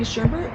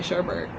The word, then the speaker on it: sherbet: so bad oh well it's actually sherbet the menu since we're there see so we're going with that uh you can pronounce that Sherburne that's how Sherburn is spelled no no oh yes there's no R over here that's an art YouTube